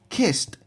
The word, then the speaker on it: kissed: Kissed, kissed with a t pronunciation at the end.